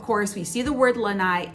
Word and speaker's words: lanai: it so of course we see the word lanai it's l-a-n-a-i-n it's pronounced lanai they'll see it in listings and